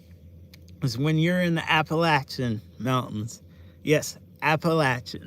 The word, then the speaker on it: Appalachia: I have to tell a lot of people how it's pronounced. Because with our accents, it's Appalachia.